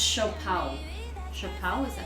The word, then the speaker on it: siopao: Pronounced shopao.